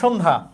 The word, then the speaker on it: সন্ধ্যা: এরপরে দেখো সন্ধ্যা, দন্তস্বর সাথে অ আছে, কিন্তু অ এর উচ্চারণ অ এর মতো হবে না, অ এর উচ্চারণ ও এর মতো হবে, কারণ এখানে জফলা আছে ব্যঞ্জনের সাথে অথবা যুক্ত বর্ণ আছে। তাইলে এখানে আমরা যখন বলি আমরা কি সন্ধ্যা বলি, সন্ধ্যা, এখানে লিখেছি দন্ত স, কিন্তু উচ্চারণটা তো তালব্যস্যার মতো স।